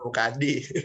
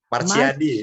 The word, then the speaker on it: Machyadi: Bacanya gimana Bukan, coba? Pak, bukan Mukadi. Bukan Mukadi Pak. Marsyadi.